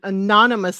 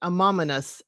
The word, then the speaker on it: anonymous: Well, yes, because y'all when they said they were writing an anonymous letter and that's how you say it, you know, Scott, you know, says it amomynous. And I know tons of people that say it like that or there may be